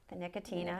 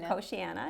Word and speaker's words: Nicotiana: And then I went here next with the Nicotina or Nicotina. Nicotiana, depending on how you say it.